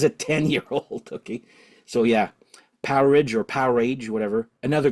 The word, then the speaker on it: Powerage: I've always called it Power Age, okay? But I saw the Thunder Mother guitarist saying it's actually should be pronounced Powerage, like an outage, you know?